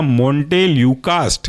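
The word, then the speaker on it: montelukast: पहला एग्जाम्पल बहुत ज़्यादा महत्वपूर्ण है, वह आपका मोंटेल्यूकास्ट। ये कई बार पूछा है, स्पेलिंग है मोंटे MONTE मोंटे और ल्यूकास्ट LUKAST, बन गया आपका मोंटेल्यूकास्ट। दूसरा है जाफिर ल्यूकास्ट, जा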